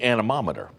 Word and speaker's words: anemometer: can't pronounce it and i went i can't pronounce it either took me a couple of tries it's an anemometer and so they said oh that's how you